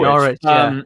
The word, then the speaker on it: Norwich: There's no W. Norwich. No, the W is silent.